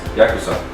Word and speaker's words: Yakuza: Yakuza.